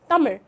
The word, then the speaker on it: Tamizh: And Tamil and Malayalam have that troublesome tongue-twisting r, Tamil, which is often mispronounced as r or l by speakers of other languages.